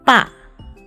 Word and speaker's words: 爸: Father is 爸, and the pronunciation is similar to 八.